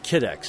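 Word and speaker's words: Kydex: how you're saying it kidex is the right way to say it kidex yep kidex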